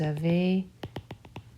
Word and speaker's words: avez: Avez, the Z is also silent.